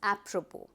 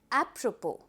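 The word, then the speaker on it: apropos: But when you pronounce the word the s has been eliminated and you call the word as apppropo. Let's have a repeat. Appropo.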